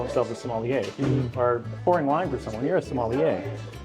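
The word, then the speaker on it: sommelier: Is it Sier? Cuz it's obviously French, right? Right. Yes. It's a wine steward, wine professional. Somalier.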